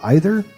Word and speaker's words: either: you grew up hearing also is either pronounced to rhyme with breather or hi there i know i say